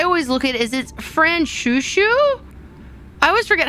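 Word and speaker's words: Franchouchou: Fran Shushu.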